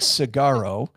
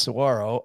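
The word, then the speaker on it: Saguaro: the name it looks like it looks like sagaro uh but it's pronounced Saro and it is a park that is known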